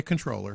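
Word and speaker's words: comptroller: you know cash registers comp troller feels a little more uh folksy in Old School it does controller feels new I say controller you do yeah I do too because I try to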